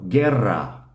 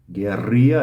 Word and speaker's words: guerra: g-u-e my notes Here gue is gay the U is silent after G but before e so Guerra Guerra is in English we kind of pronounce it gorilla which we'll talk about